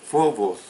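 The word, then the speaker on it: φόβος: de la palabra phobos, que es escrita con P inicial, H intercalada, y por eso la pronunciación es phobos.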